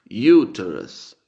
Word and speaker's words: uterus: En latín sería uterus y en inglés se pronuncia uterus.